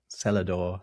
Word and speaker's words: Celador: of it, was called Celador, spelt Celador. Oh, that's great. Exact thing. And actually non-rhotic as well. They didn't bother with the R in the cellar. Celador.